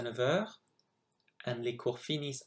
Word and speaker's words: finissent: And les cours finissent à 3h. Please note that you don't pronounce the N or the T.